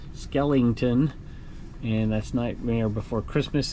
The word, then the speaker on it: Skellington: here Jack Skellington Skellington somebody said I said it wrong last time skeleton Skellington and that's Nightmare Before